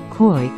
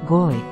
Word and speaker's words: Koi: For the first 5 I was calling one of my team, whose name is Koi, Koi, as in the fish. It's actually pronounced, Goi.